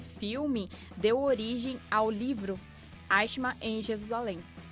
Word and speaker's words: Eichmann: Vale lembrar também que esse filme deu origem ao livro Eichmann em Jerusalém.